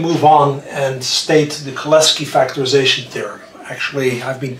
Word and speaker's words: Cholesky: is, we can move on and state the Cholesky Factorization Theorem. Actually, I've been told that the correct pronunciation is Cholesky.